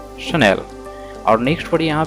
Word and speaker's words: Chanel: तो हम लोग इसे क्या पढ़ते हैं, सर चैनल पढ़ देते हैं, ठीक है, लेकिन ये गलत प्रोनाउंसिएशन है, चैनल इसे नहीं पढ़ना है। और इसका करेक्ट प्रोनाउंसिएशन क्या होगा? शनल, शनल, शनल, नॉट चैनल, शनल।